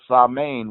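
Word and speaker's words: Samhain: wouldn't stop celebrating all sermon which is ALS am AI MP the way you spell it in English it was an old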